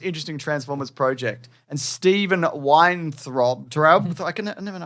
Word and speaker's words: Weintraub: And Stephen Weintraub, I never know how to spell this guy's name. He's in Collider. He's Frosty from Collider. Okay. Says It's pronounced vein throb.